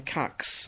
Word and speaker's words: Kucks: in Melbourne and they they're strong on the fact that they've always pronounced it Cox okay and I thought